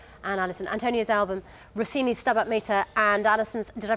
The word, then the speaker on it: Stabat Mater: Antonio's album, Rossini's Stabat Mater, and Alison's, did I pronounce that right?